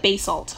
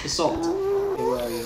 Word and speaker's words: basalt: okay basalt deltas basalt i'm gonna call it bay salt i feel like bay salt is the way i would pronounce it i thought you'd say salt but b salt who are you a chemistry teacher it's basalt i like the little thingies in the air